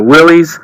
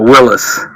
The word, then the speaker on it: Willys: There's two schools. Some people call it a Willys, and other people just call it a Willys. So it just depends on where you're from and how you grew up.